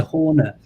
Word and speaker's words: Horner: shout out for Peter Horner. He's the network manager for a big college here in the UK as well. His Twitter handle is Peter G Horner, spelled like corner but with a H.